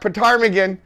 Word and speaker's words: ptarmigan: And don't worry, your librarian can help you find the rock Ptarmigan. Oh, wait a second. I'm not saying that right. Ptarmigan. It's spelt with a P, but the P is silent.